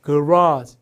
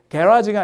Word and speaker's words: garage: 차고가 아니라 미국식 되면 약간 발음이 자고 이렇게 강세 뒤에 있어요. garage 뭐 잘하죠 선생님. 자고 이게 캐나다 쪽도 약간 이렇게 영연방 발음을 해요. 그래서 발음이 약간 이게 garage가 아니라 garage 강세를 앞에 줘요.